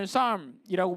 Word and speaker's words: psalm: 우리가 시편으로 알고 있는 psalm이라고 불리는 P가 묵음입니다. 영어.